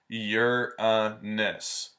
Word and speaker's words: Uranus: to knock this out the pronunciation is your miss like you like you are or the possessive that's your [ __